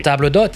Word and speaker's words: table d'hôte: I Like almost you pronounced just it properly. table d'hôte.